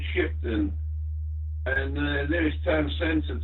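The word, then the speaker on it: Shipdham: LGF, yeah, I'm in a village called Shipton, which is spelt weird. It's Sierra, Hotel, India, Papa, Delta, Hotel, Alpha Mike. It's a village called Shipton, and the nearest town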